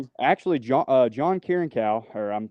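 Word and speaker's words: Kiriakou: But typically actually John Kieranow or I'm pronouncing his last name. Kuryaku.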